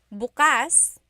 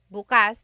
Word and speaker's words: bukas: If you say bukas buas the emphasis is on the second syllable that means open. If you say buas emphasis is on the first syllable that means tomorrow.